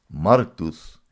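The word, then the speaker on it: μάρτυς: Porque cuando buscamos la palabra testigo en el griego, la palabra se pronuncia martus, que significa mártir.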